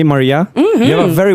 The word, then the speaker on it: Marea: Il nome di Maria è molto bello perché noi in italiano lo pronunciamo Maria, però è scritto come marea, appunto la marea del mare.